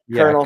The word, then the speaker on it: colonel: Like, let's take the word kernel. You know what I mean? Colonel Sanders. Like, you know? We took that from French too, right?